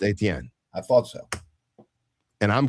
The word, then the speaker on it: Etienne: He's from Louisiana, and Etienne, which means Stephen in French, and I'm French, is pronounced Etienne.